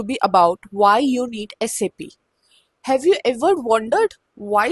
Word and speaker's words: SAP: It's not called SAP. You have heard so many people calling it SAP, right? But it's totally wrong. It's not called SAP. It's called SAP and that's how the German company pronounces it.